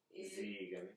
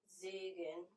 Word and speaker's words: Segen: Siegen. Segen. Segen.